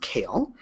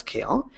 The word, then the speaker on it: CAEL: indan academic English language assessment and it is pronounced kale um so you're never going to be asked